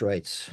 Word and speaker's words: Reitz: If you struggle with my surname, That's how it's pronounced, Reitz. If you can say Reitz, you can say my surname. It's Afrikaans. The EI is pronounced A.